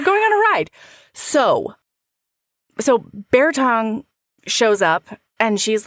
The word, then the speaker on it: Bear Tongue: I always heard it as Bearton. No, it's Bear Tongue.